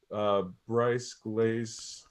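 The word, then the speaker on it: Brise-Glace: So this has Shellac, Biggin, Bryce Glaze, that's how you say it, and US Maple.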